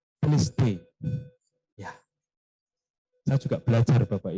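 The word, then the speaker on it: τετέλεσται: Pendeta Denny gitu ya, karena ternyata pengucapannya berbeda, tidak sesuai yang tertulis ya. Kalau tertulisnya adalah ditulis hai, ya, tapi ternyata bacanya adalah teliste.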